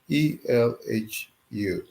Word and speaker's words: Elhu: It spells ELHU.